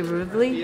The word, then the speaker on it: Rivoli: We're here at the Rivoli. You guys, I was pronouncing it Rivoli. It's actually Rivoli, Rivoli, Rivoli.